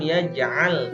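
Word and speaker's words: يجعل: huruf Ain heboh alam yaj'al kaidahum FII Khoir Gill alam ya yaah kaidahum FII tombol Gill lainnya harus jelas ya jangan ia Jal itu hampir sama dengan pengucapan huruf hamzah ia Jl tapi kalian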